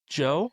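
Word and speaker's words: Djo: Um and what about the I I've never It's Joe. Do Joe. Yeah, it's Joe. I Yeah, Joe. Joe. Joe. The D is silent.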